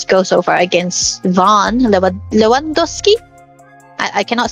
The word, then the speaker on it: Lewandowski: Lewandowski.